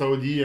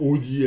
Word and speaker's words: Audi: vais parler d'Audi oui je prononce Audi un peu à l'allemande et pas bêtement Audi à la française et on va parler